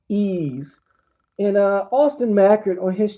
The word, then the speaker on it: Ys: It's pronounced Ease.